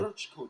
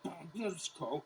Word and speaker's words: Brčko: Brčko district. I know, it looks like Brčko. It's pronounced Brčko.